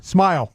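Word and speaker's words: Smael: What's his first name again? Smile. smile. Yeah, it's spelled S M A E L.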